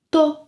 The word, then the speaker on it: tô: Or tô tô com vontade de comer um chocolate. Tô com vontade de tomar um café. Tô com vontade de estudar. Ah, this reduced pronunciation is extremely common in everyday speech.